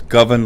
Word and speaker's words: Govan: little quick little note and what most people mispronounce Guthrie's last name it's govern like oven and that came from Guthrie himself